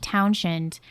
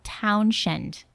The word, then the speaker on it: Townshend: Now we go into 1967 when Pete Townshend destroyed more Townsend.